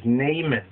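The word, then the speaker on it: Naaman: prophet Elisha he cures namon namon or or you might pronounce as nonon the commander of the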